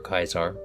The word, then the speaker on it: Caesar: Currently, we have Caesar, who is Addie's character. Or Kaisar. Or Kaisar, if you pronounce it the Roman way.